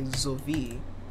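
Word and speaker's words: sowie: say zi uh or if I want to say a word that means as well as I would say zvi which is spelled s o w i e. Despite having an s, it has a z sound at the front. And despite having a w, it has a v sound in the middle.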